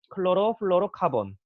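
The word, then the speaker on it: chlorofluorocarbon: 영어로 여기 CFCS라고 하는데 이 영어로 뭐라고 읽냐면 클로로 플로로 카본.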